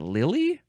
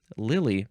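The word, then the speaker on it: Lyly: I don't know how to pronounce that. Euphues, which was a character in prose romances by John... Is that Lilly? L-Y-L-Y. Lilly.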